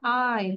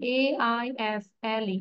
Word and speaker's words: aisle: And aisle, A-I-S-L-E, aisle. S এর উচ্চারণ করবো না, S এখানে সাইলেন্ট থাকবে।